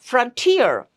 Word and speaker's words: frontier: number of them, like frontier. Here also the word ends in ER and it has three syllables, but we don't stress on the first syllable.